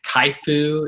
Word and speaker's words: CHIFOO: But yeah, some of my favorite ones, Kaifu is one for design, and that is spelled CHIFOO.